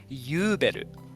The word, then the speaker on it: Übel: thought it was interesting how the Japanese pronunciation is Yuberu, Hmm. instead of like Uberu, which I thought fit more because the U sound effect almost sounds more like the German Ü, I feel.